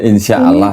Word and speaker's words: insyaallah: Melainkan patutlah kamu berkata insyaallah kita akan tulisannya di situ enggak ada tasdidnya. Jadi bacanya insyaallah gitu.